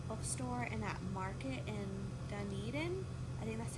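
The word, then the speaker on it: Dunedin: went to that bookstore in that market in Duneden I that's how you pronounce it and then we went out to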